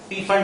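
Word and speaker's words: Pfund: andre repeats are into can just pronounce it as fund series. P fund alla fund series.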